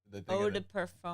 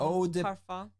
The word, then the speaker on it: eau de parfum: Eau de parfum. Eau de parfum.